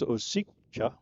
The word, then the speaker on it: Osicka: The pronunciation of his last name a little bit different than it looks in print. It's Osicka, but it's Osicha.